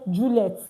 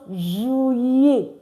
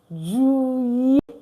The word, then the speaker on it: juillet: I used to hear Juliet. It's not Juliet. It's pronounced Juillet. Juillet. Juillet. Juillet. Why? The double L in French is pronounced yi.